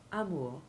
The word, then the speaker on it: amour: adjectives but the noun amor meaning a love affair retains its french pronunciation rhyming with tour and further to the